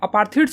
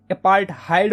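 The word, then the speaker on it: apartheid: तो देखो यार साउथ अफ्रीका में ना यार अपार्थीड सिस्टम जो थी ना, अपार्थीड बोलो या फिर अपार्थहाइड बोलो, यार कुछ लोग इसको अपार्थीड बोलते हैं, कुछ लोग इसको अपार्थहाइड बोलते हैं, ठीक है। तो जो भी तुम्हें प्रोनाउंसिएशन सही लगता है यार वो बोलो तुम, ठीक है। मैं अपार्थीड बोलूंगा।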